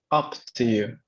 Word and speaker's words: Up to you: Up to you. Es como si Up, fuera una O.